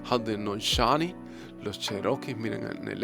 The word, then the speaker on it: Haudenosaunee: Nueva Inglaterra y Canadá, los Haudenosaunee, así como se pronuncia en inglés, Haudenosaunee, los Cherokees, miren, en